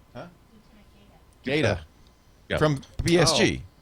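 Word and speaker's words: Gaeta: By Lieutenant Guy, how do you pronounce that? Gaitan? Huh? Gata.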